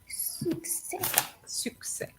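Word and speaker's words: succès: the first one was the pronunciation of success is success yeah each time I hear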